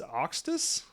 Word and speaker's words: Sektess: It's Octus.